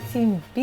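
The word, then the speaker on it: 陳皮: 陳はほら小里辺に東って書くの。で皮は皮。で陳皮って読むんですけ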